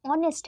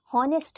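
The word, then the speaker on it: honest: जबकि वह ऑनेस्ट है। होनेस्ट नहीं है। एच वहां पे साइलेंट होता है।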